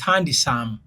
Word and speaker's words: handsome: ebisumbuwa wane olina kugamba is handsome D is silent no gamba your love